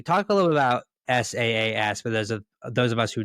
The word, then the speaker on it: SaaS: Talk a little bit about SaaS for those of us who don't totally understand what SaaS is.